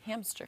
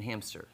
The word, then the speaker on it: hamster: Hamster. There was a TikTok that goes, I was today years old when I found out there's no P in hamster.